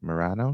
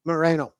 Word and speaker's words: Moreno: Republican Senator, how would I pronounce it? Morano says Moreno.